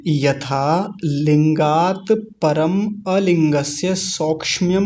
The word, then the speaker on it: सौक्ष्म्यम: लिंगात, अभी आया था लिंगात, परम अलिंगस्य सौक्ष्म्यम, सौक्ष्म्यम, सौक्षम्यम नहीं बोलेंगे, कुछ लोग इसका गलत उच्चारण करते हैं, सौक्षम्यम ऐसे बोलते हैं। सौक्ष्म्यम, क्योंकि क्ष जो है और म जो है दोनों आधे हैं।